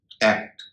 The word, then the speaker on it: act: जैसे ACT, एक्ट, एक्ट नहीं होगा, एक्ट।